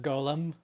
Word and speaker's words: Golem: like Yeah, I specifically I'm very careful in my pronunciation of Golem because since Lord of the Rings came out, you know, forever ago, Gollum is just Smeaggle to me. Yeah. Right. Gollum Gollum is Smeaggle. Golem is everything else.